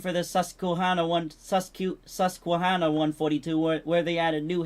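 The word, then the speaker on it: Susquehanna: Western had a random variant of the uh Susakuana 142 where they made New Haven 3025 for the game like And if you It's pronounced Susuana.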